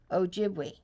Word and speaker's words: Ojibwe: my Native American tribe you say it like this o jibli see Ojibwe remember I'm a member